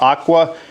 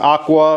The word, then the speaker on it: AQQA: a product from a I want to say it's pronounced Aqua here. I'm going to show you the box of what's coming, but I think it's pronounced Aqua or AQQA.